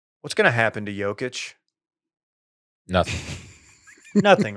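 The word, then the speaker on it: Jokić: I say Jokic because you know me. Jokic. I've got reference for the Eastern European.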